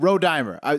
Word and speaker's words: Rodimer: Oh shit, my bad. Rodimer. So we said it wrong. I thought Rodimer.